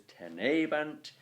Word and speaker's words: tenebant: And then with the word tenebant, you pronounce that as tenebant. The stress is therefore on the tene, and that's where you